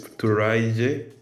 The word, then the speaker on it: Turaije: You pronounce it Turaya, but it's Turaije.